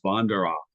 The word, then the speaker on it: Vandero: of years ago was how to properly pronounce his name the as the biographer Tom hetrick told us it is vandero uh Chris was ahead